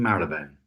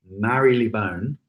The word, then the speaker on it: Marylebone: on the London Underground is pronounced in two different ways because they could never quite work out whether it was Mary Lee bone or Marylebone and so they've actually got both and they tend